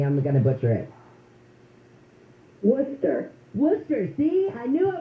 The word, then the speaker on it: Worcester: our country and I'm going to let Karen wus is it Karen will you pronounced your last name for me I'm going to butcher it Worcester Worcester see I knew I was going to